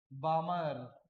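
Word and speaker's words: Balmer: इस कंडीशन में जो सीरीज बनती है वो कौन सी है, बामर। एल जो है वो साइलेंट है बेटा।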